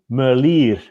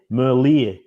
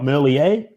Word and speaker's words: Merlier: it's for everybody there it's tim merlier it's like the ear on the side of your head merlier because he's flemish he's not french he's not merlier he's typically told me